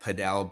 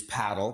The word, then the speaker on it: Padel: pickle ball courts and I know it's spelled, if you sound it out, it sounds like padell, but where it it is paddle, p a d e l, but it's paddle.